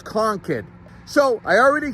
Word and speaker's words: Concord: Co n kid conid Concord no more everybody that sees this thinks they can fly a plane out of this place in New Hampshire and you can't conid is the correct pronunciation